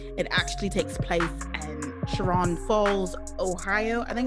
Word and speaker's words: Chagrin Falls: It actually takes place in Chagrin Falls, Ohio. I think it's how you pronounce it. Chagrin. There we go. Chagrin Falls.